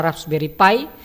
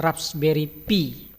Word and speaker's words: Raspberry Pi: Ada yang membacanya dengan raspberry pie ya. Yang resmi adalah raspberry pie. Tapi saya sendiri rasa lebih ringan mengucapkannya dengan raspberry pe.